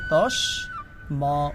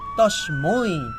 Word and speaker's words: তস্মৈ: আচ্ছা, এখানে উচ্চারণের সময় দেখতে হবে, যেহেতু এটা ঐকার, তখন এটা হবে ত দন্তস্য তস, ম ঐকার মই, তস্মৈ।